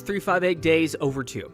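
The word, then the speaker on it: 358/2 Days: metal next up Kingdom Hearts 358 days over two that's how you say it there's technically two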